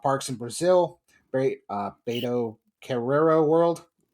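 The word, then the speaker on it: Beto Carrero World: Very uh betrero world. Correct. Hey, pronounced that one right.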